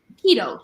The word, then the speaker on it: Quito: picture of quo or Quito I don't know if I'm pronouncing that correctly keto thank you I see the Q you and I go um but keto so there is two